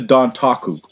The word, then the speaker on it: Dontaku: First of all, the road to Dontaku has been started. That's how you say it.